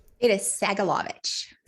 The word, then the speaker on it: Sagolovich: It is Sagolovich. Sagel. Phonetically, exactly what it looks like, but people look at it and get scared.